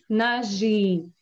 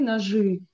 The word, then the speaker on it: ножи: Нож, ножи. Говорим и, ножи, но пишем и. We pronounce it like «ы», but write down «и».